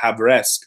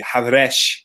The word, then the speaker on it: Havresk: this village called Havresk, or I'm trying to say it in a more traditional Armenian way, it would be Havresh. I screw it up every time, but but Havresk is phonetically is more. That's our Anglo-Saxon kind of, our Anglo way we put onto it, and it's this amazing